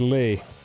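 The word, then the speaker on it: Leigh: anyone who doesn't know my first name is lee um l-e-i-g-h like you know like a like a lady would spell it yeah but you don't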